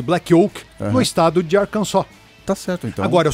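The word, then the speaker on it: Arkansas: Primeira delas, Black Oak, Arcansa.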